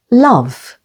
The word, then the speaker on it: love: E can be silent at the end of a word, like in the words love.